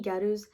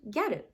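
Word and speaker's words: ギャル: Because they couldn't pronounce girl, it changed to gyaru.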